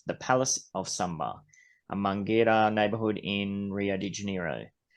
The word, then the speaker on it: Mangueira: Mangueira.